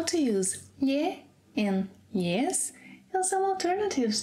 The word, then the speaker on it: lhe: It's not lhe. Let's work a little on the pronunciation. It's lhe. Well, say the word million, million, okay. Now, don't voice the first part of it. Lhen, lhen, good. Now, say the beginning of the second half only, like lhe, lhe, lhe, lhe.